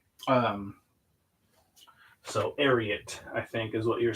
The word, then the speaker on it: Ariat: I think it's Ariel is how you're supposed to pronounce it because it's from the horse name Secretariat. Um, so Ariat, I think is what you're supposed to call it.